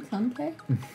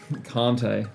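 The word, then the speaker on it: Kanté: Kante? Kante.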